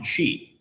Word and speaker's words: Qi: So QUI or QI, like you said, it's actually pronounced QUI, and it is an